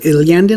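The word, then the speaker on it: Iyanden: Iliandin, I think, is how it's pronounced.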